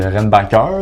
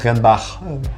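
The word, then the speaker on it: Reinbacher: Puis Renbacker, là. Ok, ouais. D'ailleurs, ça se prononce Renbach.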